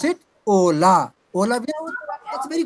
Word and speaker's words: hola: Just fit into your mind that in Spanish H is always silent. Spelling of hola, H is silent and we pronounce it Ola.